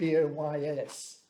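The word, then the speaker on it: Buoyes: in the brighton report my name is felt boys in the bride report it's spelt b-u-o-y-e-s which is an interesting naval connection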